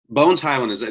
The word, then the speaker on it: Bones Hyland: So Bones Hyland, that's how you say it correctly?